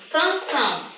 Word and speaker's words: canção: Eu tenho canção. Vamos separar. Canção. Qual é a sílaba mais forte? É o são.